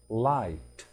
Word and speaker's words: light: hot H O T تي count c o u n t light light light معناها الضوء واللايت بتيجي معنا خفيف l i g h t نلاحظ يا أولاد عدم نطق حرفي g h eight أيضا حروف g